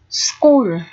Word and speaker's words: school: sẽ cùng xem nhé school school ở đây ch được phát âm là âm như vậy viết là chữ K để phiên âm này teaching teaching là